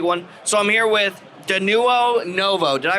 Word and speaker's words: Denuo Novo: that's a big one so i'm here with danuo novo did i pronounce that right that's correct beautiful and i'm